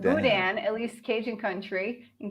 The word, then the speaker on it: boudin: they fried it so heavy carbs pronounced Boudin at least Cajun Country in Cajun Country is